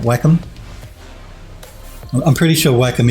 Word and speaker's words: Wacom: bad everywhere i guess snowberry says it's pronounced whackum i think he means wacom and i will die on this hill yes now he says it's pronounced wacom but i say wacom even though in in